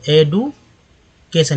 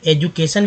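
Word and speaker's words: education: को बोलेंगे के, और एडू, ए को बोलेंगे ए, ई को बोलेंगे ए, और डी यू को बोलेंगे डू, तो एडुकेशन। इसे लोग एजुकेशन भी करते हैं, तो वो अलग बात है, लेकिन एक्यूरेट उच्चारण जो है एडुकेशन होगा।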